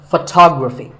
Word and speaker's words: photography: We say photograph, but photography. So the first syllable becomes ph, and the stress goes to the second syllable, photography.